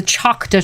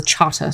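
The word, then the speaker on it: Chahta: um when the um the Chata Nation not and it's the Chaka tribe some people pronounce it but they pronounce it themselves as the Chata so I try to honor their pronunciation of their tribal name um when they found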